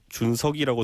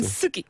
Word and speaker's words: 준석: 저도 준석이라고 들은 적은 한 번도 없어요. 준숙이 이렇게 할 것 같은데요. 준석이. 네. 그래요. 예. 어짜에 약하거든요. 네, 경상도 분들이.